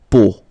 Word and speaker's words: peau: 3 vowels combined together, it's the sound O. Okay, so really simple, O. Okay, so you get la peau.